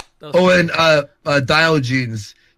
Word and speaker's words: Diogenes: I just thought Malcolm, since he's black, and By the way, for the people that don't know, it's pronounced Diogenes.